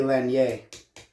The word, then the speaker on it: Lanier: If we were in Canada, where that part of my family's from, it'd be Lanier, because it's French. Well, but we Americanized the fuck out of that. Yeah, let's keep it easy to pronounce.